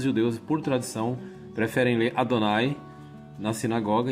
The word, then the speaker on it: Adonai: É um som longo, Adonai.